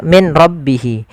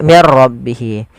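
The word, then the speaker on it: مِن رَّبِّهِ: Apabila ada nun sukun bertemu dengan ro maka di sini jangan dibaca min rabbihi tapi diganti menjadi mir rabbihi.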